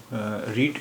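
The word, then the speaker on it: read: हम इस्तेमाल करेंगे उसका उसकी स्पेलिंग तो वही है लेकिन उसका तलफ मुख्तलिफ होगा इसका तलफ होगा रेड स्पेलिंग वही रहेगी जो प्रेजेंट सिंपल की थी वही पास्ट सिंपल में भी है लेकिन इसका तलफ हम करेंगे रेड तो प्रेजेंट सिंपल में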